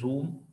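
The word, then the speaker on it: jhum: cultivation to check इथं spelling आहे जे एच यु am that is झूम cultivation किंवा याला तुम्ही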